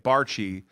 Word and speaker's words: Barchie: Bernard Barchie, that's how you say it, Barchie, is the CEO of BBig Financial Solutions.